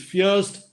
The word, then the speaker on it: First: of them is Grindelwald Fürst. While the pronunciation is Fürst, the spelling is first.